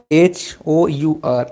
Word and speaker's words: hour: H sound is silent. Hour, H-O-U-R, hour, but we are using N, right? Because H is silent here.